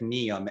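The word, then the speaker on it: NEOM: i find it fascinating and that's the project neon n-e-o-m at least as i pronounce it in saudi arabia you gave a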